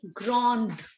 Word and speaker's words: grand: No, S will not be pronounced. Why? Because consonants in French, if they lie in the end, they are not given their sound. Okay, we only Okay, ma'am. speak it out till D. Grand.